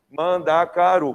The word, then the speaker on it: mandacaru: Mandacaru, 4 sílabas, certo? O que você vai contar? Você vai contar até a última sílaba tônica. Qual que é a sílaba tônica? Mandacaru.